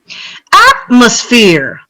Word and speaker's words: atmosphere: Atmosphere, atmosphere. How many syllables? 3. 3. And what are we stressing? The last one. Try again. Listen again. Atmosphere. The first one.